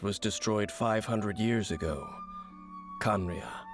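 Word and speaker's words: Khaenri'ah: destroyed 500 years ago kanria I'm glad you said that so I know how to say it conria left over from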